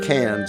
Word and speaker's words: Cairns: We arrived in Cairns in October 1994. Yes, I know we wouldn't pronounce it like that, but the Aussies do.